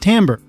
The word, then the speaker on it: timbre: 4 subscriber jm mentioned in the comments it's pronounced timbre i looked it up and son of a